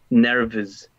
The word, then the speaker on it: nervous: Nervous. Y el sonido final es como un zzz. Nervous. ¿Cierto? Haciendo vibrar las cuerdas vocales, ¿cierto? Como sonido de Z, ¿cierto?